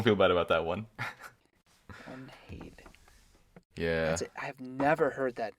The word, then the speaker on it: Arnheid: Arnheid. Yeah. I've never heard that name. Me neither. Arnheid. I haven't either, but just based on the way I feel like Nordic pronunciation should work, it should be Arnheid.